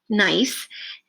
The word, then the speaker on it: gneiss: Examples of this rock type include, I believe it's pronounced gneiss, and marble.